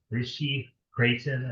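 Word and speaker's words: Ritchey–Chrétien: This was taken with an RC, Rishi Creighton, I think is the way it's pronounced, telescope.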